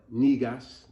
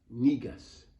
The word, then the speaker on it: Negus: of a lamb and if it's a female nigas n-e-g-u-s it would be pronounced that would be a female uh ruler